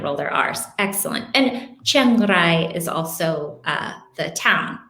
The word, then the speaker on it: Chiang Rai: spanish some spanish speaker some spanish words also have that rolled r so officially it's chiang rai yes if you can't roll your r's it's okay to just say chiang rai when you're in when